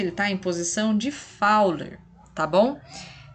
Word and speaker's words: Fowler: está em posição de fowler tá bom se escreve fully mas a gente lê fauna tá quando paciente para